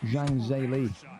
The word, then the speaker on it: Zhang Zhili: Zhang Zhili.